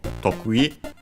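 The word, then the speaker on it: とくい: And yes, the word is accented on the first syllable, tokui.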